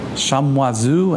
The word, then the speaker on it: Chamoiseau: How do you pronounce that name in French? Anybody? Chamoiseau.